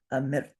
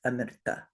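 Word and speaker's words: अमृत्: So you would say this word, amirt, not amirta.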